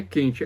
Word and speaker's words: Kant: Nem é Kant, é Kant mesmo, né?